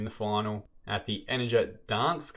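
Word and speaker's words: Gdańsk: We're going to play Arsenal in the final at the Energia Dansk. I think the G is silent in Poland.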